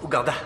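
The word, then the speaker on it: Rwanda: t'aime je t'aime aussi ça se prononce ouanda ah Uganda d'accord c'est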